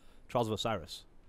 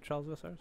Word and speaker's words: Trials of Osiris: I have yet to play this game type, but I imagine it's got to be identical to Trials of Osiris, which I have bested. It's pronounced Osiris. I lied.